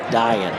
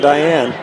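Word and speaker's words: Dayan: dying lake that time d-a-y-a-n pronounced dying dying better than diane yeah it's the coaches here is it diane is it i said nope it's dying which is what defenses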